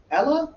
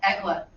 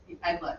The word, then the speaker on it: Egla: Ella? Egla. Epla. Egla.